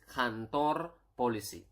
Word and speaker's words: kantor polisi: So again, police station is kantor polisi.